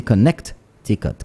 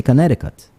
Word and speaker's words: Connecticut: there and they say connect ticket connecticut but the t in the middle is silent for those people so they say connecticut so the moment now